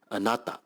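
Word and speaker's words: あなた: kju the third word means you and is pronounced as anata the fourth word means to like and is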